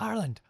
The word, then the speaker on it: Ireland: She's like, it's not Ireland. I was like, well, how do you say it? She's like, Ireland. And I was like, but I can't say it without the R because I don't know how.